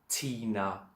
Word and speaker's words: thina: T and a H is t. It always stays a hard T. So Tina or Tata. Tina means us, Tata is